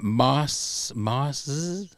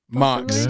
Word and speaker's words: Marks: Mars, I don't know how you say that. Marcz. How would you pronounce that? Marcz. Yeah. Marks. Okay. Yeah. Marks.